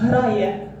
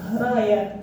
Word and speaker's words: грає: Грає. Okay. Nice. Let's again. Море. And those like lines on the top is just a stressed syllable. So грає, море.